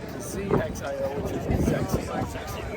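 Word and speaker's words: XXIO: that's the only one I know but it's pronounced CX iio now lot of people say well if that's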